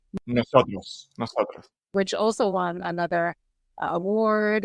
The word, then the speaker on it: Nosotros: And I listened to the album Nosotros, which also, am I pronouncing correctly? Nosotros? Nosotros.